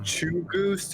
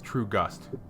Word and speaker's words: Truegust: Is it True Goose or True Goose? I said it wrong. It's True Gust.